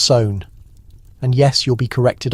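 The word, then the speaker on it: Samhain: Samine pronounced sown.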